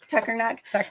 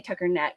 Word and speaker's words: Tuckernuck: Tuckernuck. So I always say Tucker Neck, so I let her say it to say it correctly.